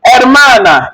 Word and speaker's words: hermana: Remember the H is not pronounced. I started with hermana, not hermana. You are wrong. It's the pronunciation started from here. Hermano, not herman. Hermano, hermana, hermano, hermana.